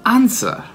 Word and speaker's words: answer: La parola risposta, answer, c'è un W, è muto.